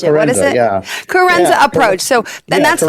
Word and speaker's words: Coerenza: I'm not sure how to pronounce it, so I won't botch it. What is it? Yeah. Carenza Approach.